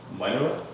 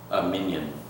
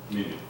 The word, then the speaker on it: Minyan: How do you pronounce that? That's correct. Minor? Minyan. Minyan.